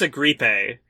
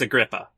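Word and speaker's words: Agrippa: He says Marcus Agripe, which is not how you say agria. Well, maybe that's the the Italian pronunciation, you know, when in Rome, literally. I mean, it probably is more in line with how you would have actually said it. No, it's a grippa.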